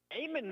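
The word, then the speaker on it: Aiman: Amon makes the play. His last name is spelled A-I-M-A-N.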